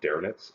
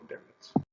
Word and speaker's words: Dönitz: And I always joke around, he's the policeman's favorite admiral, because his name sounds like the word donuts.